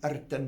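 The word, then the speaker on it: Rtanj: And when I got to the top of Erten mountain, I have to say it like that because that's how you say it.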